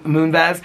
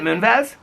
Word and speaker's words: Moonves: Julie Chen Moonves. Outside, I always say Moonves, and I know that's not right. I can't pronounce.